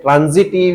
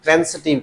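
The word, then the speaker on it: transitive: ट्रांजिटिव या ऐसा नहीं है, ये ट्रांसिटिव कहते हैं। सही प्रोनाउंसिएशन ट्रांसिटिव है, लेकिन बोलने में कॉमनली जो भी बोलो, लेकिन याद जरूर रखना कि इसको कहते क्या है?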